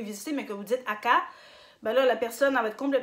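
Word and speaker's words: 赤: Rouge, on va dire aka. Aka. Aka. Si vous dites haka, ben là, vous parlez d'un cimetière.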